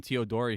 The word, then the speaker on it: Teodori: We got Teodori here. Is that right? That's right. You pronounced my last name right.